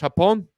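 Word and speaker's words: Japón: them is Japan uh let me make sure I say it right in Spanish hapon right yes ma'am okay going into going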